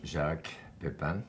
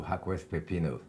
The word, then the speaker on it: Jacques Pepin: Well, I am Jacques Pepin, and well, it goes from Jacques Pepin to Jacques Pepino, depending with Pronunciation.